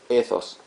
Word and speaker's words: ethos: correctamente esta palabra griega, la TH en el griego se pronuncia como la TH en el inglés, o sea, como una Z, ¿sí? Entonces, esto se lee ethos.